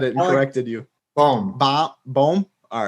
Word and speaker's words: Bohm: Bohm.